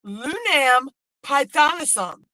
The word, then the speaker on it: Lunam Pythonisum: I've only got a little bit left to do here, but I figured out how to say her name. It is Lunam Pythonisum.